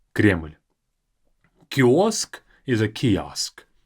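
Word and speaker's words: Кремль: to show is Kremlin notice that in Russian is just one syllable in English it's two cremin but in Russian just one crl Kos is is a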